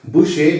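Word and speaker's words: Bucher: it is pronounced as Boucher because he was from France and in French language what we write is not what we pronounce so his name is Charles A bushek he defines physical education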